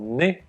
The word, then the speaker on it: née: You then have to add a very small word, né, if you're a boy or a man, or né if you're a girl or a woman. The pronunciation is the same, but the spelling is different.